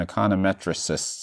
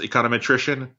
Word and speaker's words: econometrician: think I've talked a ton of economists and econometrics ist's if that's the right word how's the transition been from econometrics to data science yeah great question so it's official it's pronounced econometrician at random attrition so I would say and